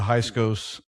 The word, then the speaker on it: Hyksos: Hyksos.